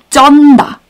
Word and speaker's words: 쩐다: And this expression is 쩐다. There is a 투 지읒. 투 지읒. So it's double 지읒. And it's pronunciation is 쯔, 쯔, 쯔. So it has to be 쩐다, 쩐다.